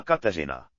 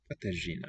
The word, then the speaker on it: Kateřina: Yeah, this modified R letter. It's famous. Mladá Kateřina. Katyajina. It's not quite an R, not quite a Ž, some sort of in-between thing.